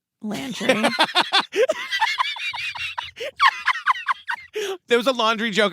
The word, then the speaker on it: Landry: Landry.